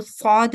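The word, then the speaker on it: ص: Most of the time it's mispronounced or replaced with letter seen. So seen is a thin sound letter, but Sad is a thick sounded letter, right?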